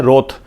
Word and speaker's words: wroth: Repeat कर रहा हूं, WROTH उच्चारण है, प्रोनाउंसिएशन है रोथ। WRATH क्या प्रोनाउंसिएशन है? रोथ। दोनों का उच्चारण रोथ है।